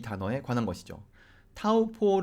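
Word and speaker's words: Taupō: 들어보시죠 깎고 깎고 이건데요 이 영어로 된 발음과 마을이 어로 된 발음의 가장 큰 차이는 제가 보기에는 모음이에요 맨 마지막에 모음을 어떻게 발음 할 것이냐 하는 것이죠 o 로 끝나면 이 영어를 하는 사람들은 그것을 자연스럽게 어우 이렇게 발음 하고 싶어 한단 말이죠 그런데 조금 전에 들으신 마을이 어 발음을 생각해 보시면 그냥 5 이렇게 끝났습니다 한국사람에게 이거를 다름 하게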